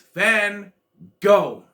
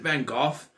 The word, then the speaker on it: Van Gogh: gogh it's van gogh no they're saying it wrong everyone says it wrong it's fan go that was so expensive